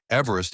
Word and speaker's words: Everest: it was named Mount Everest after Colonel Sir George Everest 1790 to 1866 formerly surveyor general of India 1830 to 1843 who pronounced his name Eve rest and who never actually